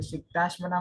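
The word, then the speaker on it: सिक्ताश्मनाम्: पातश्च लोकमूढं निगद्यते जो वरोप्लिप् एक सेकंड, जो सिक्ताश्मनाम में पढ़ रहे हो ना, उसमें श आधा है, तो सिक्ताश्मनाम इतना ही उच्चारण है। सिक्ताश पूरा पढ़ोगे तो आगे दिक्कत आएगा। सिक्ताश ऐसा नहीं मनाम पढ़ना, ऐसा नहीं पढ़ना, सिक्ताश नहीं, सिक्ताश्मनाम।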